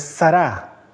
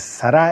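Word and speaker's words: שרה: continuar quiero comentar algo Sara que en el fondo es sará el nombre de ella en hebreo no es acento en la primera a es al final es sará el nombre de ella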